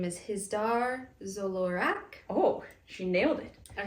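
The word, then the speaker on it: Hizdar zo Loraq: And his name is Hizdar Zolorak. oh, she nailed it. I wrote it down.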